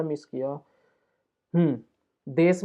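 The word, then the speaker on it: です: ही लिख देता हूं लिखा जाएगा देशु लेकिन लेकिन बोला जाएगा देश ठीक है देश बोला जाएगा देश अब यह क्यों जरूरी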